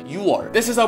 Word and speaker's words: 육월: you might prefer so you might pronounce this as you were but it really isn't to make it some more fluid Koreans don't really pronounce the kkeok in the first letter so it sounds like you are this is our